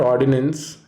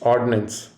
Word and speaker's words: ordinance: that spelling helps pronunciation it is not ordinance its ordinance you may have to use the word ordnance to enforce an ordinance but you should not pronounce the word the same ordinance is a